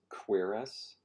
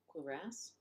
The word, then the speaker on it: cuirass: Well, this says the stress is on the second syllable. Cuirass.